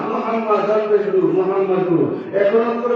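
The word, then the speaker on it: محمد: পাঁচটা ঠিক কি না মিমের উপরে তাসদীদ থাকার কারণে এখানে দুইটা মিম কয়টা মিম দুইটা মিম দেখতে হয় চারটা কিন্তু উচ্চারণ যখন করবেন তখন হবে পাঁচটা মিম বিষ্ণু হে মিম জবর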